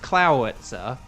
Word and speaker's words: Clawitzer: It like it's pronounced Clowitzer, but it's got the word claw like as a written thing.